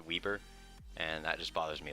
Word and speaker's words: Weber: how you pronounce it I know it reads we b r but I learned it's pronounced Weber and that just bothers